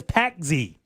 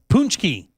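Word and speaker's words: pączki: It looks like it says Packzy. That's what it looks like it is, but it's not pronounced like that. It's probably pronounced Packy. Punchki.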